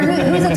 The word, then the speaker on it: Whosits: Yeah, we're Whosits Whatsits across all platforms. Yeah, all platforms. It's spelled Who Sits. They're S's and not Z's.